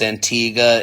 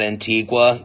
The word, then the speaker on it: Antigua: Who's going to tell you that it's pronounced Antigga and not Antigua, even though nobody has asked or even got it wrong to this point?